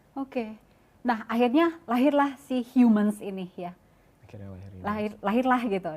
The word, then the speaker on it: HMNS: Pas lebih tahu lebih dalam, oh ternyata dibacanya Humans.